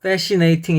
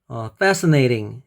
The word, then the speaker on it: fascinating: 아이가 중간에 있으면 어로 발음되는 경우가 많아요. 예를 들어서 impossible 이렇게 이 앞에는 아이가 이로 발음되죠. 그리고 이 중간에는 뭐 이렇게 어로 발음돼서 impossible 합니다. 그래서 어떤 분들은 뭐 fascinating 이렇게 발음하는 분도 있는데 그렇게 하지 마시고 fascinating.